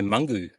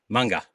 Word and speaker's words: Munga: I did say Mungu Fury, but it's Munga.